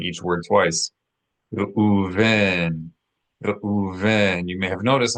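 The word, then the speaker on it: רְאוּבֵן: Reuven, Reuven. You may have noticed I'm not saying Re'u, but I'm saying Re'u. Very subtle difference, but this is because the letter Aleph is a guttural letter, and we have a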